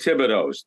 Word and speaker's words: Thibodeau: When you lived in Rumford, Maine, there were 100 Thibodeaus. That's the way you pronounced it. When I came down here, everybody kept saying Thibodeau.